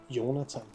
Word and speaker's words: Jonathan: I mean like um Jonathan in in engl in Danish is more like yonathan so it's this place